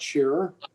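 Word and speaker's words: Scherer: beneficial to the community thank you um mr shearer or mrs griffith do you have a comment please yes uh thank you mr chairman uh can you hear me all right this is shearer yes could you spell your last name for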